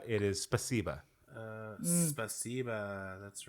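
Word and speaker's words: спасибо: It's, It is spasiba.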